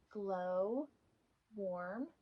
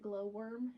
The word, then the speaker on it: Glow Warm: I kept calling it Glowworm and then realizing it was wrong, and then saying Glow Warm, Glow Worm, and had some issues there.